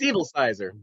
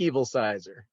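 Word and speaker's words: Evilsizer: name it's uh it's it's pronounced just like it sounds yeah i know how's that it's evil sizer evil sizer evil sizer eric it's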